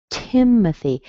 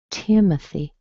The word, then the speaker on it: Timothy: Strong in the beginning. The O doesn't have its own sound. It is a schwa. Tim. And then at the very end, you see the Y, so we have a little E sound.